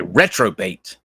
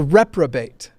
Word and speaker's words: reprobate: at that moment is ridiculous you are a retro bait that's true dare you Stern did you wait